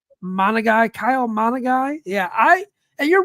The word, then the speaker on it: Kyle Monangai: No, It is Kyle Monangai. Kyle Monagai.